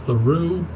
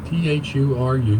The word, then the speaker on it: Thuru: I apologize, and I sincerely mean it if I mispronounce this man's name. It's Thuru, T-H-U-R-U, Thuru.